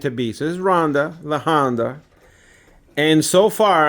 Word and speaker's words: Ronda: Well, Ronda rhymes with Honda, and Ronda Rousey, she's beautiful and tough, like my motorcycle.